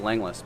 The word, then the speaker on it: Langlois: office after the postmaster which was laneways pronounced Leng list by the family from what I understand